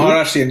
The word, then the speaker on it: Maharashtrian: And the EP description for Sabudana Khichdi is it's a perfect and correct me if I'm not pronouncing it correctly, Maharashtrian comfort food. Maharashtrian, yeah. That is the state in India where I come from.